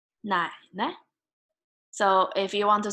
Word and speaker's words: 奶奶: And on your father's side, grandma, 奶奶, 奶奶.